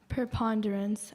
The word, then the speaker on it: preponderance: Preponderance. Am I pronouncing that correctly?